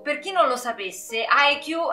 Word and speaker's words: Haikyuu: Per chi non lo sapesse, IQ è, anzi IQ dovrebbe essere la pronuncia giapponese, è un cartone giapponese,